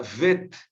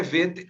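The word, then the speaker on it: ב: Por que é vet e não bet? Eu expliquei isso para vocês na aula passada, Com um pontinho no meio, ela se torna bet, mas sem o pontinho, ela se torna vet, ok?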